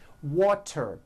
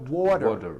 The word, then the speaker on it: water: make things easy so if a letter T Falls between two vowel sounds which are voiced so if it falls in the middle of vowels then the t is pronounced as a d and the whole word is voiced this is very easy and you may already be doing this correctly here are three examples water is pronounced as what water the tea turns into a d and the whole word is voiced water I want water better